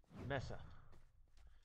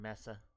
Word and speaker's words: mesa: little tease and going messa it sounds like you're saying messy exactly this is a